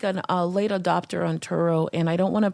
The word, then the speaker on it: Turo: is turo for so turo I say it like like it's another word Toro Toro t r o